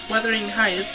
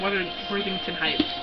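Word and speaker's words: Wuthering Heights: a obsessed with um weathering Heights I always said that name wrong I always said like weather Worthington Heights I have it on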